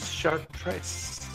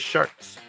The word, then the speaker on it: Chartres: remember besides Bri yes this is chartress chartress you pronounce it like that chartress chartress Cathedral or just shirs CHS chess cedral Chas 1194 to 1220 CE